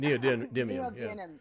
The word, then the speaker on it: neodymium: mag the Neil dynam how do you say that neodymium yeah whatever those well that's how you say it needs it neodymium yeah but I like